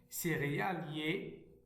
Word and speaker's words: céréalier: Nous avons C, Ré, Ya, lié. Céréalier, céréalier.